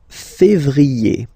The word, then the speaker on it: février: yé, janvier, then comes février, février, okay, remember when you have this accent aigu on the top of then you pronounce it E, okay?